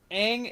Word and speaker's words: Aang: Oh no, the thing is I think their names are closer, are like, Aang is the Chinese way of pronouncing it.